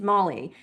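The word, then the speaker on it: moly: One single L and it's Molly.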